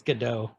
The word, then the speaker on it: Gadot: Eckstein Yeah, I think it's pronounced Gadot. that T at the end. And I was like, how did you not edit that out? I think it's Gadot.